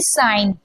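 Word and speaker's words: sign: हैं यहां पर देखिए एन से पहले जी है तो जी साइलेंट है ठीक है डिजाइन में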